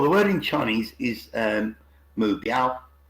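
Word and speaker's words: 目标: Well, the word in Chinese is mu biao. So it's got 3 syllables, mu, bi, ao.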